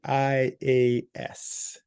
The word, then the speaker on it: ETIAS: It's called, it's called the ETIAS.